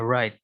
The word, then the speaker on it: right: r, r, r, right, right, right, Siapa di sini yang membaca tulisan ini masih pakai W? Kalau yang baca masih pakai W itu salah ya. Nih. Baca yang benar. Cara membacanya yang benar itu seperti ini. Nggak ada W-nya, right.